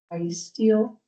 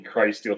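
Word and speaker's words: Crysteel: I noticed that you're pronouncing it Christ Steel. So the the company out of the metro would be Cry Steel Truck Equipment.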